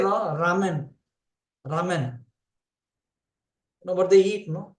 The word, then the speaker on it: ramen: So that's why when they say Ra, we say ramen. Ramen. What they eat, ramen. But you'll just listen to how Japanese say. You'll hear lamen. But they're not.